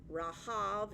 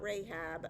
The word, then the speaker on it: Rahab: So always the Old Testament worldview is water is chaos, monsters live in the water, Leviathan, Rahav, not Rahab, another monster spelled the same way.